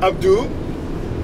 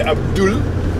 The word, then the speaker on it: Abdou: this is, I am Abdou, and yes, A-B-D-O-U. Yes, Abdou. That. Okay, some people say Abdul. No, this one is Abdou. Not Abdou. It's just Abdou.